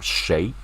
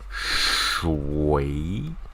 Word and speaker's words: 谁: We have the pronunciation of 谁 but sometimes if you are like doing some like reading okay like 朗读 right? It's like some formal reading competition, something like that. You might have another pronunciation called 谁 right? Or EU, so it's like this 谁 right? 谁 okay.